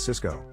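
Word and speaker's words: Sysco: Jack had told him to buy Cisco, the high-tech company, and Tony bought Cisco, the food distribution company. Both stocks are pronounced exactly the same.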